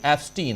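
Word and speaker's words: Epstein: है कि Jeffrey एप्स्टीन, हालांकि मिस्टर एप्स्टाइन कह रहे थे वो, ओरिजिनली नाम उच्चारण भी एप्स्टाइन ही करना चाहिए, लेकिन चूंकि अपने यहां एप्स्टीन कहा जा रहा है तो मैं भी वही कह रहा हूं।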